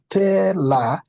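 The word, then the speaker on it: thelathini: So it is a te, no, it's not tele, it's tela. So you have the word telatini.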